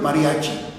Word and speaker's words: mariachi: Es que eh es que la palabra mariache, aquí está escrita, mariache, está con e, pues que los indígenas nunca pudieron pronunciar la palabra mariache con él, siempre dijeron mariachi, mariachi, mariachi. Pues se quedó mariachi.